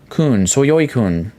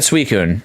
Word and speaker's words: Suicune: I used to call Suicune Soyoikun. I've always said Suicune.